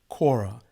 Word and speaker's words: kora: name of the instrument it is called a quora in english it's spelled k-o-r-a but you'll find it also spelled in french with the c-c-o-r-a now the kora is